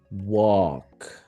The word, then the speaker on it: walk: Here the L is going to be silent. So, walk.